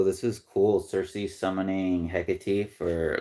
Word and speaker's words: Hecate: So the name Hecate, I talked about before. I'm pronounced it like 5 different ways now, but Google says it's the name of the goddess, and it's Hecate.